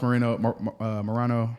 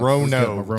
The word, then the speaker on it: Morono: I took 10 means on this, but Alex Morano. I took Alex. Morono, dog.